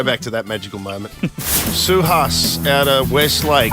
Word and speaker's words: Suhas: Suhas out of Westlake. Have I pronounced that correctly? Yes, got it right.